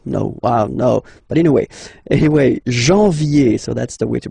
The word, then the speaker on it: janvier: But anyway, janvier, so that's the way to pronounce it. Janvier, A-N, en, okay? And then, ye, janvier.